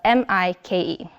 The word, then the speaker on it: Mike: So he tries to improve his technique a little bit by using an acoustic approach, like I'm Mike, it rhymes with bike.